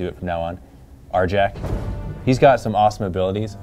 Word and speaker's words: Arjac: and I say it R Jack and not AR Yak because um typically you do say the J's is y's but apparently after an R it's uh pronounced with a hard J so that's just how